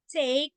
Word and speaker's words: take: So the first vowel A is long and E is silent. Okay, so if you can read that, take. Okay, take, long A, take, and E here is silent.